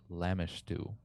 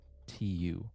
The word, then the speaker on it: Lamashtu: the water, vials of water, as waters of Lamishtu, a dark, monstrous deity. How do you spell that deity's name? Lamashtu, Lamashtu.